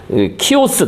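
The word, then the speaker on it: Chios: 키오스 또는 뭐 발음으로 히오스 섬의 학살.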